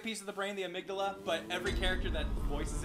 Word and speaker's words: amygdala: I pronounce it like the way the brain... Yeah, the brain. The piece of the brain. Yeah, I always say the piece of the brain, the amygdala, but every character that voices it here says amygdala.